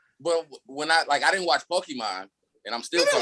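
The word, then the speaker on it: Pokémon: The song it emphasizes the E so heavily in the song. Again, you're listening to Americans say it. But it's Pokemon.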